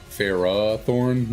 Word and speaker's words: Ferrothorn: really don't matter Farah Thorn like you're supposed to extend the a Farah Thorn not you're not supposed to I mean I just say Ferrothorn guess if I break